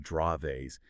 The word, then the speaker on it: Dravet: just for everyone out there remember DVA is pronounced draves and uh you know our main source here